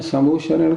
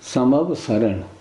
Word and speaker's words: समवसरण: फिर आपने समोशरण कहा। नहीं ऐसा नहीं समवसरण हम सब लोग समवशरण बोलते हैं। बोलने का उच्चारण की शुद्धि रखनी चाहिए।